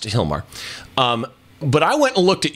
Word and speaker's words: Gilmar: cool talking points about Hilmar by the way people if you don't know when you go look at the post her name is spelled with a G I'm not mispronouncing it and I didn't spell